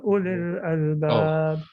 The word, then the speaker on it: أولي الألباب: The waw is silent, so it's Ya ulil albab.